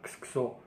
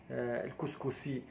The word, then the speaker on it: كسكسو: وكون سمع بيننا الإخوان المصريين كيقولوا ليه الكسكسي، وهذا الكسا هذه ما كاينش شي واحد في المغرب كينطق الكسكس بهاد الكلمه هذه، وانما كيقولوا اما كنقولوا الطعام اما كنقولوا كسكسو. اما الكسكسي ما كايناش نهائيا، ومن هذا المنبر هذا